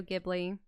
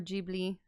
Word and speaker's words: Ghibli: Yeah, and obviously Studio Ghibli. Or Ghibli, they pronounce it.